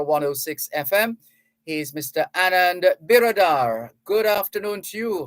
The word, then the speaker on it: Biradar: And did we get the pronunciation right? Biradar?